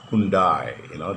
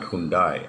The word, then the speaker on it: Hyundai: For example, the famous car Hyundai, they say Hyundai, it's not Hyundai. Actually, if you look into the original pronunciation of the Korean, it is Hyundai.